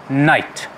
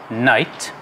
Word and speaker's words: knight: our first first word is difficult perhaps to pronounce for certain people but it's just night uh night and it is a man in medieval times